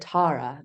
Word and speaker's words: Tara: opinion about what my character's name, like the pronunciation. Yeah. And so she's British and she's a lovely accent. And she said Tara, just like so beautifully. I was like, well, clearly it's going to be Tara now that you've said it like Yeah.